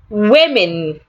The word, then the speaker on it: women: Women. Women. The plural of woman is rightly pronounced women. The letter O sounds A. The letter E also sounds A.